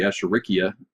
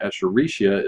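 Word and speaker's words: Escherichia: Echaricia or Echurikia. There are a couple of different pronunciations for that. Apparently, Echerikia is the correct pronunciation, but Echaricia is what most people say.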